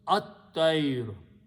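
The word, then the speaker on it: الطير: So this word become, when you combine and read together, lam is not pronounced, ta is pronounced twice, it becomes at-tayr.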